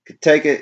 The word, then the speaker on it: Cotaco: Pronounced Cotaco. It's funny how they have it typed out though. Cotaco is the original name of Morgan County where our brewery is located.